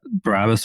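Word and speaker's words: Barabbas: And then to the name, you pronounced it quite well, Barabas, right? So let me kind of uh put a little more emphasis on it.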